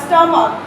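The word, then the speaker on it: stomach: How does the स्टमक help in the digestion of food.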